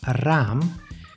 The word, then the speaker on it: raam: a should be preserved the long sound is pronounced with two as's after each other like in Ram which means window or when one ey a